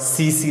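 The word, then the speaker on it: tsetse: So trypanosoma ब्रोसाई causes a डिजीज called sleeping sickness, it is transmitted by a white fly called सीसी फ्लाई, ये T silent है, सीसी टी एस ई सी T silent है, सीसी फ्लाई एक फ्लाई है।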